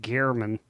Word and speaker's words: Gehrman: with all of the screams we heard from that game, the guy never turned to the screen and said, it's pronounced Gehrman.